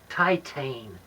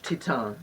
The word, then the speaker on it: Titane: All right, now, Titane. You got me to see Titane. Or and as I it's am. pronounced in French, Titan.